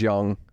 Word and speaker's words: Jung: the Life of George Young it's either it's George j u n g but I think it's pronoun pronounced Young no I think it's George Young is what it sounds like like J Jung third